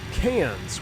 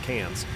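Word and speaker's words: Cairns: Bravo Hotel Mike and we're headed over to cans which is I've been there in real life and we're going to go we're going to do some TBM flying out of cans it's pronounced cans like C NZ or CS even though it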